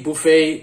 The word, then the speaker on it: buffet: buet and I thought you know way Buffet it Rhymes people who love going